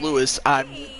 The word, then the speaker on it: Luis: Even though it says Luis, but it's pronounced Lewis. Don't ask why, but that's just what it is.